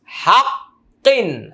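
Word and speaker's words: حق: হাক কফ দুই কিন হাক্কন হাক্ক আমরা যদি এখানে ওয়াকফ করি উচ্চারণটা হবে হাক্ক মজা আছে কোরআন পড়া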